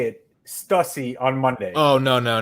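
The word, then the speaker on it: Stüssy: to say Oh No so you guys are pronouncing the brand s tu s s ey incorrectly Stussy who'd you say Stussy well did I said stuti I started saying stuff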